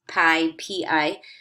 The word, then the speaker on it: pi: it's written this Greek letter here time it's pronounced pi pi and that is the ratio of a circles